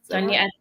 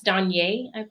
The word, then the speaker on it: DeJonaé: Danya, that's Danye.